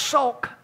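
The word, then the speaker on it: שׂוֹךְ: 7754 is pronounced sok, just a slightly different variation on the Hebrew vowel points.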